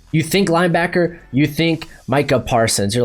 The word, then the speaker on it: Micah Parsons: I finally said it right. I keep wanting to say Micah. I don't know why, but it's Micah Parsons.